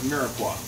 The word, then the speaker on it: mirepoix: Now, in French, we call these guys here, this trinity, right, of the carrots, onions, and celery, we call it mirepoix. M-I-R-E-P-O-I-X, mirepoix. They never pronounce the last letter.